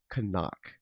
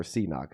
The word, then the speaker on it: CNOC: Uh, one is called deorite and the other is called kok or cox is actually how we used to pronounce it which I know is pronounced it